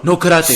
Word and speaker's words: karate: They're like, no karate. Say it like an American. Karate. So Karate. karate.